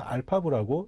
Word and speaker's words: RPAV: RPAV라고 써져 있습니다만 발음하실 때는 알파브라고 읽으시면 편하시겠죠.